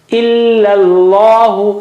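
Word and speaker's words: إِلَّا ٱللَّهُ: Illa Allahu. So illa, first one is flat and thin, and the other one is thick.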